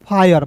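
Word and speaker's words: fire: एफ आई आर ई को फीरे पढ़ते थे। फायर नहीं पढ़ते थे दोस्तों।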